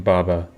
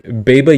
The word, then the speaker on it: Baba: Baba Yaga's name, you should put the emphasis on the first A in Baba.